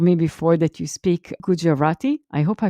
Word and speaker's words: Gujarati: and you told me before that you speak gujarati i hope i pronounce it well right gujarati yeah it's a it's a it's a language